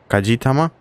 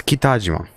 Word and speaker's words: Kitajima: I keep wanting to say... what do I want to say? Kajitama? Maybe Kajitama? Is that what I'm trying to pronounce? But I keep, like... It's Kitajima.